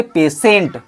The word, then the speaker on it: patient: ठीक है, next word हमारा है PATIENT, इसको क्या बोलेंगे, इसको बोलेंगे पेशेंट। क्या बोलेंगे, पेशेंट, यानी ट यहाँ पे आ जाएगा, यहाँ पे टी का उच्चारण पेशेंट हो जाएगा, जबकि यहाँ पे देखिए